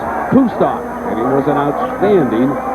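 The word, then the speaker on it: Kustok: His name is pronounced Kustar and he was an outstanding basketball player in high school.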